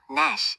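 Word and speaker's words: gnash: GN은 단어 처음 외울 때 G가 묵음이 되어 N 소리만 나요. No, Nash, 이를 갈다처럼요.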